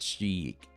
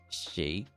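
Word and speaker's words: Sheikh: It's not Sheik. It's Shake.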